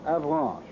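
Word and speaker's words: Avranches: peninsula is 75 M across between K and avalan I'll spell that again for those of you who have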